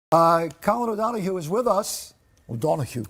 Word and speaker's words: O'Donoghue: Colin O'Donoghue is with us. O'Donoghue. Come on, say it like O'Donoghue. Oh, it's so much better.